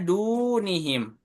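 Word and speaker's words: دُونِهِمْ: Contohnya dunihim. Du-nya itu di ayun. Karena domah di du bertemu waw sukun. Dunihim.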